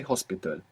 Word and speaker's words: hospital: but it's not pronounced you must imagine that it begins with an O so how would you say hospital hospital see you you thought